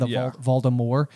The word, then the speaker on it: Voldemort: point in the audiobook, Jim Dale is pronouncing Voldemort in that way where it's a silent T at the end, Voldemort.